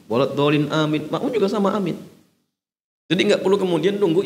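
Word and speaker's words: آمين: Amin. Jadi a-nya itu mad badan, dibaca 2 harokat. Amin. Minnya mad arid lisukun, dibaca sampai 6 harokat. 6 harokat atau 3 alif.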